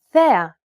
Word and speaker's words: θέα: This accent just indicates that you need to stress the syllable. That's it. Κάλος, καλός. Νόμος, νομός. Θέα, θεά. Notice how the accented syllables are emphasized? It's pronounced a little bit louder and longer than the surrounding syllables.